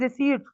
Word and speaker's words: receipts: the correct pronunciation is receipts many people just pronounce it wrong like receipts p is silent here so it's create digital receipts like if we are